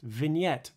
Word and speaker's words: vignette: the main camera that's the tunneling vignette that's pronounced vignette by the way if you don't like the